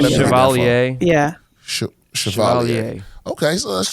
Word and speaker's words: Chevalier: Chevrolet? Oh, is that how you supposed to? Is that how you say it? I may not be pronouncing it. Chevalier.